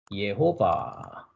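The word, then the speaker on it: יהוה: 어 1절에 나와 있는 여호와를 말합니다 그러니까 당신은 누구라고요 예호바 히브리 발음은 예호바 있니다 한글은 이제 여호와 이렇게 돼 있고요 예 그러니까 여호와 당신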